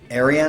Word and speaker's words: Ayreon: Ayreon, I think is how you pronunciate it.